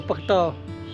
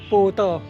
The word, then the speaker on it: 北斗: 称宝斗，所以北斗的地名台语发音不能念作北道，而是要念成波道。